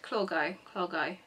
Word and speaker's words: Clogau: Clogau.